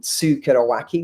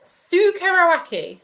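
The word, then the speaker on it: tsukuriwake: with and so santori pioneered a concept called sukado wacky which is very difficult word i'm not going to expect anybody to write again sue karawaki who yeah tsukuaki so i might i might be pronouncing that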